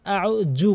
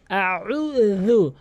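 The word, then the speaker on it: أعوذ: এখানে অধিকাংশ লোক আউ জু বলে, আউ জুবি, আউ জু। এখানে জিম তো নেই, এখানে রয়েছে জাল। জালের উচ্চারণ হচ্ছে জিহ্বার আগা এবং দাঁতের আগার সঙ্গে লাগিয়ে রু, আউযু, উল আউযু, উল আউযু, এভাবে উচ্চারণ করতে হবে।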